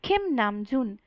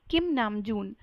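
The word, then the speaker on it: 김남준: सा ब्रेक करके बोलो, खिम नामजुन, खिम नामजुन। तो आरएम का जो रियल नेम है उसको हम प्रोनाउंस करेंगे खिम नामजून, ना कि किम नामजून, जो कि बहुत गलत है।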